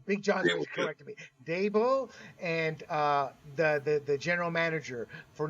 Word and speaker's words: Dabo: Dabo and the general manager for not I mean,